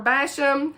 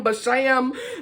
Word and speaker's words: Basham: y'all already know pepper basham hey girl hey i was saying her name wrong for so long i kept saying but sham that is that's a